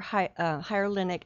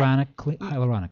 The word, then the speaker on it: hyaluronic: For wintertime, I would highly recommend our hyaluronic acid serum, and then we have a cream, and we have a day cream and a night cream as well.